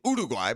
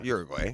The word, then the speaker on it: Uruguay: I like saying Uduguay, but it's Uruguay.